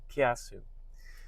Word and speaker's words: Kiasu: So you say the word together kia and sue. Kiasu.